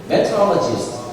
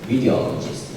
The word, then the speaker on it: meteorologist: meteorologist 이 정도만 발음 괜찮지요? 그럼 미국 애들이 절대 못 알아듣습니다. 그 사람들 영역이 이렇게 음역이 있어요. meteorologist 이렇게 하는 거예요.